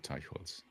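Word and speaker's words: Teicholz: I don't know how she pronounces it, but in German you would say Teichholz.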